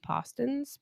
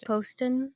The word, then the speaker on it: Poston: make all of Ashley poson post how do you say do you say it Poston or poson Poston Poston Poston Ashley Poston